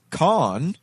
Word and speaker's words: Cahn: be a coincidence that his name is spelled or pronounced con but it spells Cahn when it might ought